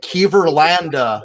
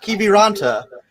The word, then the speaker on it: Kiviranta: Like he was like Kiverlanda, not Kiviranta.